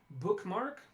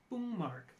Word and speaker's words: bookmark: so we have a word for example like bookmark bookmark which a native English speaker can probably say with little to no difficulty but if you if you ask a Korean speaker even at an advanced level of English to pronounce this they may very well say boom mark because for the Korean